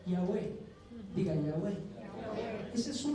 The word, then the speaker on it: Yahweh: 4 letras en hebreo, que la pronunciación más cercana, por lo menos la más cercana, es Yahweh.